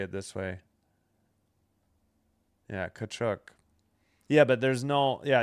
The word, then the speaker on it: Tkachuk: The T is silent, yeah.